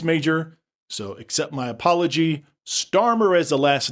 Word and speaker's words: Starmer: A couple corrections in my last podcast, I mispronounced the British PM's last name. It's Starmer, s t a r m e r. I said Staver.